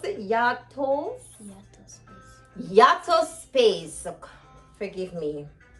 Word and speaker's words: Yataspeace: with this um yes yeah yup oh you pronounce it yactos yato space forgive me yata space so they're african lime and i found some